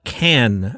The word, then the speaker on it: Cannes: last time I was pronouncing something incorrectly. And $1 told me, just call it Cannes.